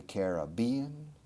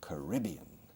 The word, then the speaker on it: Caribbean: Okay, there are 2 pronunciations, that's correct. There are 2 pronunciations for el Mar Caribe. The Caribbean and the Caribbean. Both are correct.